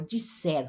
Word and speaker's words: disseram: E português, ó, a formação que é o pretérito perfeito, eles disseram, ó, eles disseram, tem duas S, eu pronuncio como espanhol, disseram.